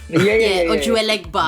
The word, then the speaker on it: Ojuelegba: I can't pronounce the song, but you know what I mean. Ojuelegba.